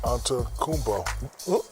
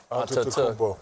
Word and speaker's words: Antetokounmpo: Well, Giannis Antetokounmpo. Is that correct? You forgot a syllable right in the middle. Antetokounmpo.